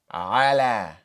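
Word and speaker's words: على: So, we're going to write an A for the alif maqsurah, which is pronounced like the letter alif. Ah. Ah. So, if we pronounce all of these letters together, we would say ala.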